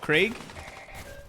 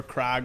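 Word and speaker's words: Krieg: Mine is the death core of Craig or Crag, whichever way you want to pronounce it, I suppose. I've heard it both ways from many a person, but uh I ran them.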